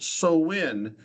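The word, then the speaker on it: Samhain: And their festival was called Soin. Um, it doesn't spell that way.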